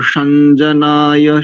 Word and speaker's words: शं जनाय: ही नहीं रखना उसको, यानी अनुस्वार का उच्चारण परवर्ती अक्षर से जोड़ते हुए कीजिए जो भी हो रहा है। तो संजनाय संजनाय, ना है भी और नहीं भी है।